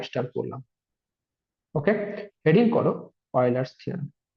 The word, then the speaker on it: Euler: Pronunciation অনেকে অনেক রকম করে, যারা প্রথমবার পড়ে, কেউ ইউলার বলবে, কেউ উইলার বলবে, কেউ অয়লার বলবে। যাই হোক, এটা অ্যাকচুয়াল প্রোনাউন্সিয়েশন হচ্ছে অয়লার থিওরেম। ঠিক আছে, ইউএলইআর, অয়লার থিওরেম।